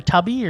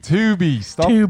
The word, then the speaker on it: Tubi: Yeah, we ended up getting off Tubi or Tubby, or I'm assuming it's Tubi. Tubi. Stop mispronouncing stuff when people were trying to direct people to it. Tubi. Well, Tubby would be with two B's.